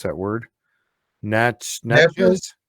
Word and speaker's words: Natchez: It's in, I got to try to pronounce that word. Natchez? Natchez? Natchez. Yeah, Natchez.